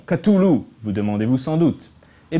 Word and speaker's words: Cthulhu: Le problème, c'est que d'un coup sur l'autre, Lovecraft donnait une prononciation différente. Par exemple, dans une lettre, il explique que ça pourrait vaguement ressembler à Cloloro ou quelque chose du genre. Mais il précise que de toute façon, ce nom n'est pas supposé être prononçable par des cordes vocales humaines.